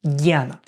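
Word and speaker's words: ज्ञान: Janani Janani Yoga is written junana but is pronounced janna so that's it this is all we need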